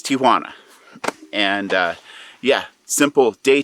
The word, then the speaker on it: Tijuana: time pronouncing tijuana properly everybody seems to say it tijuana and when that kid said mexicans start looking around for their aunt it's tijuana maybe not so hwana but it's tijuana and uh yeah simple